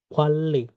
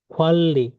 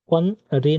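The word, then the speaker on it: 관리: নিয়নের পরে রিয়ল আসছে, দুইটা মিলে লয় লয় সংযুক্তের মতো উচ্চারণ হবে কোয়াল্লি, ম্যানেজমেন্ট, কোয়াল্লি। কোয়ান রি না, এটার উচ্চারণ কোয়াল্লি, কোয়াল্লি।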